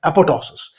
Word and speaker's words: apoptosis: So it will undergo the process of apoptosis Also, you can pronounce this word as apoptosis.